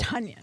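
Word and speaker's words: Tonyan: rodgers that it reminded it rhymes with funyun it's bob tanyan right right i mean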